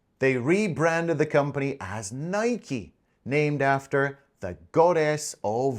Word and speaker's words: Nike: In North America, it's pronounced Nike. But in other countries outside the US, like the UK, it's pronounced as Nike, as in bike. But apparently the official pronunciation, the proper pronunciation is Nike.